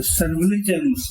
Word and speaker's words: surveillance: Yeah, before emergency, maybe 6 months or even 1 year, the surveillance, police, in looking after Anandanos, I use the word, what is the pronunciation?